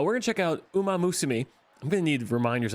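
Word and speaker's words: Uma Musume: I got it right. Uma. Umaam Musima. Uma Musumi. Uma Musumi. Okay. Uh, we're going to check out Uma Musumi.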